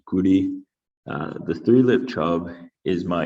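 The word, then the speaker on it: 끄리: In Korean, this is pronounced guri.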